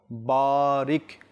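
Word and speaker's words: بارك: বারিক লানা বারিক লানা এখানে বা এর মধ্যে যেহেতু আলিফ রয়েছে আর এখানে একটি কায়দা থাকে আলিফ মাদ্দা তো বা এর মধ্যে আমরা একটু বা যখন উচ্চারণ করবো একটু টানবো বারিক বারিক শুধু বা এর মধ্যে এই শব্দের মধ্যে শুধু বা এর স্থানে একটু এক আলিফ বারিক বারিক তারপর লানা লানা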